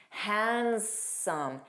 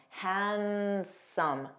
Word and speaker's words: handsome: Handsome, handsome. No D.